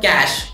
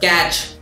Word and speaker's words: cache: It is called cache, C-A-C-H-E, not catch or cache. It's called cache memory. For those of you who are pronouncing it wrong.